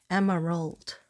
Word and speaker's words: Emerald: And she said, no, give me 3 syllables. You can't afford to do 3 syllables, Katrina? I said, yes, you deserve it. Emerald.